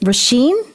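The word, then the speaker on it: Róisín: Hey, okay, so is it Roisin?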